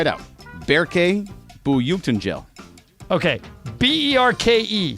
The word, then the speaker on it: Berke: BERKE.